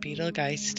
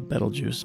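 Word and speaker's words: Betelgeuse: ever gone supernova yet it's a betel juice but I know what you mean oh well that's alright that that's one of the most often mispronounced names in the English language etiology is you know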